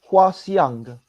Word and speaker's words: Hwa Siang: How is it properly pronounced? All right. Hi, everyone. My name is Hwa Siang. Hwa Siang.